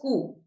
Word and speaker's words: coup: down whose that happened this is pronounced as cool right oodi does that